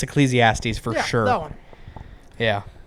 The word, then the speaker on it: Ecclesiastes: l t Ecclesiastes oh Ecclesiastes that's it it's Ecclesiastes for sure that one yeah also side note